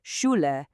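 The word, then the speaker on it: Schule: Whenever you see these three letters hanging out together, it's just one simple sound, shh. That's it. Just like in the English words shu or push. And the best part, there are no exceptions to this rule.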